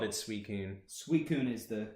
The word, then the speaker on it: Suicune: Suicune is the correct pronunciation.